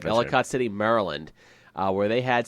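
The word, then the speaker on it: Ellicott City: that happened in uh town called elott City I think I'm pronouncing that correctly yep Elicott City Maryland uh where they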